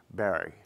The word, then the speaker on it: Barre: The New England pronunciation was Montpelier and Barry.